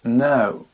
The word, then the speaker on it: know: couteau a knife knife le verbe savoir no I don't know le genou ni et